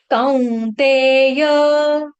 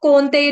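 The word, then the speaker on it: कौन्तेय: प का मामप प्राप्यव फिर है कौतेय कौ काऊ कौऊ कौते जैसे सी ओ डब्ल्यू काऊ कौतेय इसको कौनते नहीं पढ़ेंगे क्योंकि दो मात्रा है इसीलिए कौते ततो इसको ततो नहीं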